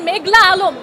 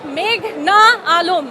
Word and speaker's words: মেঘনা আলম: না পাসওয়ার্ড আদালতে এসে শুনি পিপি বলছেন মেঘলা আলম আমার নাম মেঘনা আলম এই নামটা তারা উচ্চারণ